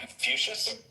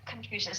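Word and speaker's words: Confucius: Like or confusion if I'm pronouncing it right. the Chinese philosophy right that confucious that confusious thank you um so that wouldn't be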